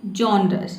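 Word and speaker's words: genres: आगे है डिफरेंट, इसके देखिए इसको हमें प्रोनाउंस करना है जॉनरस।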